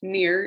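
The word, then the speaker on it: ne'er: Near, it's pronounced near. It's just like a shortened way to say never.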